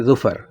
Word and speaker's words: ظفر: اس کو بولیں گے ظفر. آپ نے زوئیں نکالنی ہے، زا نہیں کہنا.